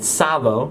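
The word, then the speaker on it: Tsavo: another window and Google the Sao silent T maneaters and then go watch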